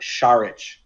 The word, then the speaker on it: Saric: How about Sharich? Sharich, there you go. And it's spelled not at all like how it sounds.